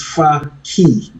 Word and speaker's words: Fakhi: The how it's pronounced, it's far key.